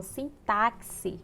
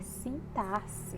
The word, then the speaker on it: sintaxe: de s por exemplo muitas pessoas falam sim táxi quando na verdade é sintaxe bom então o x